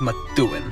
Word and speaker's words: Methuen: five we've got methuen you kind of have to add a little bit of a d sound on the th methuen all right number four